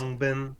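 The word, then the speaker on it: Khruangbin: Krungbin, did I even pronounce that right? Yes. Krungbin.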